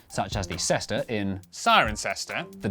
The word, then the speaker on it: Cirencester: But before you get too reassured, for every rule in the English language there are always exceptions, such as the cester in, Cirencester, the W in, Sandwich.